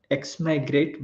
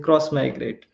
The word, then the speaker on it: Xmigrate: it is always like it is pronounced cross migrate instead of x migrate so cross migrate it's